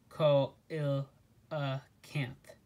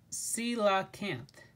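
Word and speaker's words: coelacanth: cola camp to rescue the kayaker marty said pronouncing the name ko il uh kanth grace shook her head it's pronounced si la camp i knew that marty said his usual response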